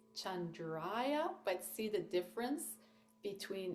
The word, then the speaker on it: Chandra: short a so Cham and then Chandra so we're going to spend some time on the A and the r uh in Sanskrit is a rolled kind of a rolled R so